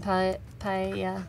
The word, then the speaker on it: paella: So you pronounce the L, paella. Paella. So in Catalan we have an extra letter, which is elle. It's made by two L's. And the sound is L, which is paella.